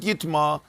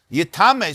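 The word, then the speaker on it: יטמא: But when it says yitma, even though it says yitma and you pronounce it yitma, but remember, Sefer Torah has no nekudus, so it lends itself to be pronounced also as yitame.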